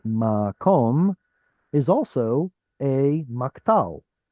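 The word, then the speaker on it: מקום: So instead of makwam, like this, which should be this pattern, instead of makwam, that kwa sound simplifies into an O, and this then becomes the beginning of the syllable. We get makom.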